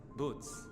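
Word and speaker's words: buuz: Boots they call them. Boots. Ah, so that's how you pronounce it.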